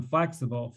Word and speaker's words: flexible: between stressed syllables so in flexible flex is a stress syllable and bull has a